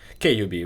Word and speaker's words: KUB: Okay, Sasha Kubitskyi, and Sasha is the owner and proprietor of, is it Cub or KUB, we call it KUB.